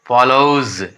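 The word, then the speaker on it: follows: तो tries, FOLLOW, फॉलो, फॉलो, फॉलो, फॉलो, एस आ गया, फॉलोज, etcetera.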